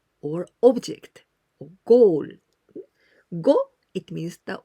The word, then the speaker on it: を: But we pronounce o, but you must write wo.